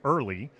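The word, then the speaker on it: IRLI: website it's um our our acronym for the immigration reform law Institute is pronounced early but it's spelled IR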